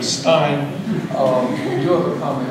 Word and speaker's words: Stein: Even though he pronounces his name Steen and I pronounce my name Stein, we do have a common ancestor with a mutation somewhere.